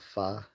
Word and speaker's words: pho: know um fa Vietnamese fa soup. The f noodles. I love fa um noodle soup, which is spelled pho by the way, but it's pronounced fa.